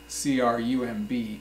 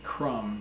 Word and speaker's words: crumb: another word is crumb CR um B crumb it is not crumble but crumb a crumb is like